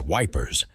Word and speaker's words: Ypres: Still, soldiers joked that Ira was easier to pronounce as wipers, and the name stuck, a dark humor to soften the horror.